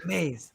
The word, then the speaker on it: Maes: and understand the world according to him Matt maze I hope I said that right did I say that right Matt you well you're pretty close maze yes maze okay so Matt maze Matt maze hold up